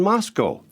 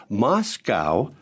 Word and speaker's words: Moscow: voice he loudly said there's no cow in Moscow you see it was a pronunciation mistake I had just been on the air saying Moscow and not Moscow well let me tell